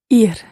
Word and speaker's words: ir: it's an irregular verb that verb is spelled I are and it means to go yeah here here good pronunciation ear no ear is the